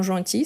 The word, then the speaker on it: gentil: sont gentils oui sont gentils sont adorables donc oui sont gentils n'oublie pas qu' est gentil on ne prononce pas le l à la fin donc gentil ok gentil parfait euh